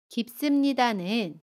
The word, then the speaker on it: 깊습니다: 깊습니다는 깊습니다 라고 발음해요. 받침 피읍은 받침소리 비읍으로 발음하고요. 습은 씀으로 발음합니다. 깊습니다.